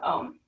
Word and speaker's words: Om: a very simple sound think of it spelled AUM so your mouth will open wide ah and then kara through the you and then that mm sound at the end okay so we're going